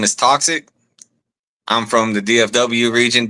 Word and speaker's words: Talksiik: And it's pronounced more not toxic. Toxic, right?